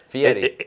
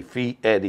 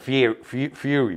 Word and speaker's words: Fieri: Which, by the way, it's Fieri. Yes, it's Fee and then Eddie. Fee Eddie. Yes. But Fury.